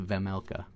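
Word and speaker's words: Vejmelka: Uh, goalies for this one were Carell Vmela, Vamela, Vamela, no J. Don't pronounce the J. It's a VMLa.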